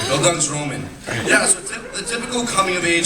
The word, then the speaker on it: Bildungsroman: Did I pronounce that correctly, Mr. Kaplan? Bildungsroman? That's good? Or is it Bildungsroman? That's good? All right, Bildungsroman.